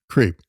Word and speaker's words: CRP: of the president whose initials spell the word creep so it's CRP but it's pronounced creep uh the other four